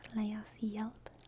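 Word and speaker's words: lēas ġielp: That's pronounced leas yelp, leas yelp, leas yelp, yelp.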